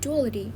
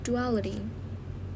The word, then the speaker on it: duality: Oh, it's not duality. It's actually the stress is full on the second component, so it's duality.